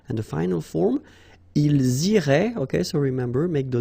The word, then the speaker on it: iraient: And then if you look carefully, you get A-I-E-N-T. Okay? But then phonetically, it goes like E. Okay, so technically these form and these forms here are pronounced the same way, and it goes like irait.